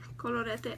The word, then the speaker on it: Colorete: Colorete. I actually said it right, I think. Colorete. Like you have to let the R roll.